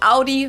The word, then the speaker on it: Audi: it the right way audi right audi yeah not not that other audi i don't even know why you would pronounce it already it's not like odd why that doesn't make sense